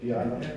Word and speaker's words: Diana: Diana Patel. That's the right pronunciation, Diana.